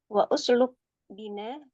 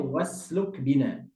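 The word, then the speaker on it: واسلك بنا: Wa usluk bina fihi. Itu bacanya wasluk bina.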